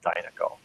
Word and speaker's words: Dynaco: I'll tell you, just as a little aside, I have relatives in Canada, and they pronounce it Dynaco. So actually, your pronunciation is correct, but not in the Midwest.